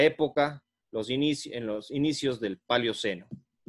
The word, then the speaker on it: Paleoceno: Y en la época, en los inicios del Paleoceno, o del Paleóceno, pero creo que se pronuncia Paleoceno.